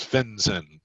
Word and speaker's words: FinCEN: remember that one ok its really simple to remember it's just kind of like it rhymes FinCEN I always seem to get it backwards and sentient fen I don't know why I do but it's fins in ok and it's the